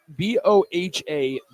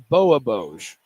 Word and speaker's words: Bohaboj: It is Bohaboj. Text line, help Nick out. Send a It voice text. it is Bohaboj.